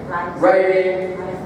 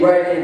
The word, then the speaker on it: writing: the 3 R's: reading, writing, arithmetic. So, as you can see, only one of these is actually R, because the W is silent, and then we say arithmetic.